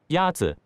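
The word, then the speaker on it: 鸭子: Is it Yazi? Yazi is pronounced with a first tone. In Mandarin, there are four tones, which are essential to distinguish the meaning of words. The first tone is a high-level tone.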